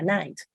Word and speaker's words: nice: Ah pues o sea ahí dice nit esta y no se puede pronunciar como en español sería nice y lo mismo pasa